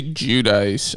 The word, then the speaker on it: Giudice: On the show, they say Giudice. I keep saying Guidice. I said Guidice for the longest time. Then I did like a Google like pronunciation thing, and I got Giudice.